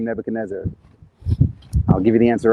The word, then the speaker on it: Nebuchadnezzar: and specifically the king of babylon came nebuchadnezzar pronounced in english as nebuchadnezzar which is an interesting pronunciation my favorite um